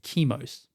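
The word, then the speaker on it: Chemos: Fulgrim landed on a planet named Kimos. Okay. C H E M O S. Just so you know how it's spelled.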